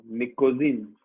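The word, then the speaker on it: pnictogen: P silent होता है इसमें, निकोजीन।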